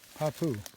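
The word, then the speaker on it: hāpuʻu: Hapu, glottal stop U. Hapu.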